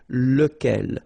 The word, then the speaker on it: lequel: Okay, so remember, you've got to pronounce it lequel, even if you get this QU. Okay, remember that this U phonetically doesn't exist, so lequel.